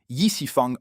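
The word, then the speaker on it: 易四方: La Yangang U cette repose sur la plateforme E4 prononcé Yisifang en chinois.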